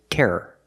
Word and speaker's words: terror: first word is tear the second word is Terror two syllables example terrorists use